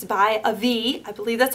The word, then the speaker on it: Avi: It's by Avi. I believe that's how you pronounce it.